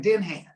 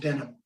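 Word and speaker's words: Denham: d-e-n-h-a-m it looks like Den Han but it's pronounced denim yeah yeah sounds like the jeans yes yes yeah so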